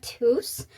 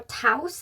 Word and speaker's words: Tous: So we are going to go over Yara Moi and Yara Tous, or Taus, however you want to pronounce that.